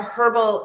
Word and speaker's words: herbal: I was probably a herbal sorry and in Australia we pronounce the h so I'll jump back and forth between the two we um I was